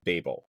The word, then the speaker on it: Babel: I looked it up to make sure the pronunciation. Oh, okay, all right. It is Babel.